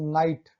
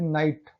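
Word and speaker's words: night: जैसे नाइट, देखिए जी एच का कहीं पर भी हम प्रोनाउंस नहीं करें, ओनली नाइट।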